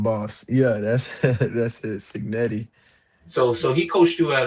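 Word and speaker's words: Cignetti: pronouncing it correctly? The mob boss. Yeah, that's that's it. Signetti.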